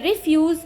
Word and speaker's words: refuse: The residents of the colony threw the refuse on the road. Now first syllable is not stressed, is stressed, second syllable is not stressed, here it is being used as a noun.